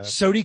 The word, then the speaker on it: SODI: Is Mental got some sort of Southern pronunciation going, or is there like fair. SODI? They are SODI, wanting, got it.